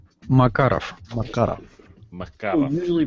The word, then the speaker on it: Makarov: Russian designed pistol a marov or marov but it's actually supposed to be pronounced Makarov Makarov mar mar who usually